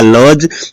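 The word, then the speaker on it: lodge: silent है इसमें देखिएगा लज जी से पहले क्या है डी है तो इसमें साइलेंट है लज बोलते हैं अब देखिएगा ई साइलेंट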